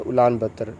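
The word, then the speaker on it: Ulaanbaatar: बातर में, ठीक है, उलान बातर, ऐसे मतलब कैसे प्रोनाउंस करते हैं ऐसे, ठीक है, उलान बातर में हो रहा है ये मंगोलिया में, ठीक है।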